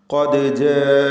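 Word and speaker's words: قَدْ جَاءَنِي: ഖദ് ജാഅനി, ഖാഫിന് തഫ്ഖീം കൊടുത്ത് ഉച്ചരിക്കുക. തടിപ്പിച്ച് ഉച്ചരിക്കേണ്ട അക്ഷരമാണ് ഖാഫ്.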